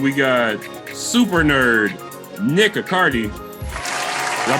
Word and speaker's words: Accardi: And we got super nerd Nick Accardi. Did I pronounce Yeah, just like Bacardi.